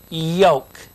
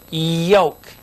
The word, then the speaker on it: yoke: for a few minutes over here we have yoke listen to this yoke and this word is joke J joke this is yoke and here is joke